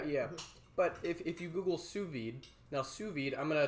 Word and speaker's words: sous vide: I know it looks like it's sous vide, but it's, it's a French thing. They don't pronounce half the letters.